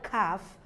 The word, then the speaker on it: calf: almond almond the word calf the L is not pronounced so it takes a longer R sound calf likewise chalk likewise palm